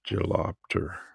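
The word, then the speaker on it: Gelobter: you and this great person Lisa is pronounced jalopter Lisa gelopter the computer scientists as a computer scientist jalopter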